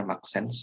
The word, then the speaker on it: MXene: Baik, terima kasih Mas Angga atas paparannya yang sangat di bidang Maxsense, MXsense, tapi dibacanya Maxsense gitu ya.